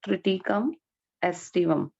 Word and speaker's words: Triticum aestivum: Remember the pronunciation, Triticum aestivum.